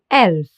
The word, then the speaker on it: Elf: The letter E is called E in German because it's pronounced like the E in bed or select.